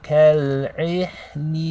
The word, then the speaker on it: كَالْعِهْنِ: The ha over here, you want to let air continue out of your mouth. Okay, so ha is one of the letters of hams, which means you want to read it like this.